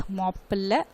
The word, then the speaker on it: Mappila: Okay children, about this definition, Mappila, you have to pronounce like this, Mappila Peasants Mappila Rebellion.